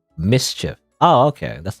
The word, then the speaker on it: MSCHF: Apparently, well, it says here on the Wikipedia it's pronounced mischief.